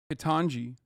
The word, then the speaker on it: Ketanji: Like, Ketanji is how you say Judge.